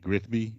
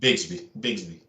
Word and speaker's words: Bigsby: Tank Grigsby, or is it, how you pronounce it? Bigsby. Tank Bigsby. Yeah, he's legit, right?